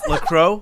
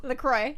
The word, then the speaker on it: LaCroix: X is silent. Oh, is it? Yes. Like LaCroix? LaCroix.